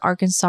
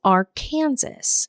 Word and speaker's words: Arkansas: the Little and Big Arkansas River meet. and she told me that the river is actually pronounced as Ar Kansas when it's in Kansas, but when it's not